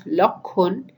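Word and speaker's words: লক্ষ্মণ: Some examples will make it clear, like Lakshmi becomes Lukhi, Lakshman becomes Lakhun, Laksha becomes Lokho, Pakshi, Pokhi, Akshar, Okhor, Akshay, Okhoy, Pariksha, Porikha, Parikshit, Porikshit.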